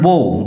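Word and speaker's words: bow: উচ্চারণ বো বাউ নয়।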